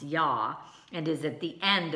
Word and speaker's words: Yah: holy name you'd hey which you know is pronounced yah and is at the end of many Hebrew